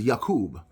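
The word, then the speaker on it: יעקב: Right here it says the name Jacob in Hebrew is Yakub. Now remember, let me tell you something. In Hebrew, the letter J is pronounced like a Y.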